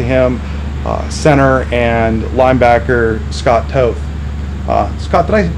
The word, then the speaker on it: Toth: and next to him center and linebacker Scott Toth. Scott, did I pronounce that last name right?